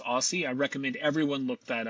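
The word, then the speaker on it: OSSI: Tom Michaels, professor of horticulture at the University of Minnesota and founder of the Open Source Seed Initiative, pronounced Aussie.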